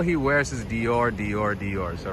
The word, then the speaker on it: Dior: Apparently Mbappé, all he wears is Dior, Dior, Dior. So right across the street right there, we have Dior. The proper way to say it is Dior.